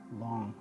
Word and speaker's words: Lang: spelled L AMG but I believe the correct pronunciation it's long anyway coordinated research I've